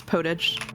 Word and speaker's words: potage: Yes, it's right in French, but it gets pronounced that way in English too.